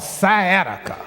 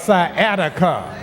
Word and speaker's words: sciatica: You see, I have this condition called sciatica. Oh, somebody knows something about sciatica. It rhymes with Attica.